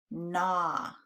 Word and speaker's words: gnaw: But the G is silent in this word.